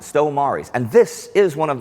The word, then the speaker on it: Stow Maries: Now today, we're at the Stow Maries Aerodrome in Essex, in England. And that's how the locals pronounce it, Stow Maries.